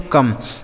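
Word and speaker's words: come: आगे लिखा है सी ओ एम ई इसे पढ़ा जाएगा दोस्तों कम। सी ओ एम ई इसे पढ़ते हैं कम।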